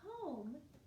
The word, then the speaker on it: home: Now home, we just have to remember this, but home also has a long O sound, but it's the magic E, where the E signals the O to say O spelling.